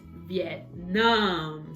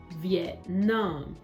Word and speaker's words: Vietnam: the dictionary that actually the correct way is vietnam so i was wrong so change it up change it up vietnam great so we've got it now the stress is on the second syllable vietnam so it's really really